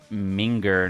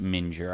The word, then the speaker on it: minger: Pronounced minger, not mure.